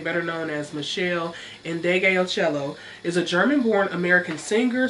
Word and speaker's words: Meshell Ndegeocello: here and butcher it her name is Michelle and degeocello that is beautiful and